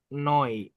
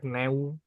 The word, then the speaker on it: neu: Itu karena buku kita yang tercinta ini itu pakai noi, neu, noi. Makanya kan dibacanya noi ya teman-teman ya. Neswerk noi bukan Neswerk neu gitu teman-teman.